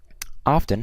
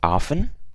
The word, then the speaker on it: often: about the T obviously it can be either silent or not silent so depending obviously on where you live and your pronunciation and